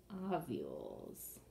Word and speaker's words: ovule: Okay, let's label both of those parts, the ovary and the ovules. The S makes it plural. That's also a silent E word, by the way.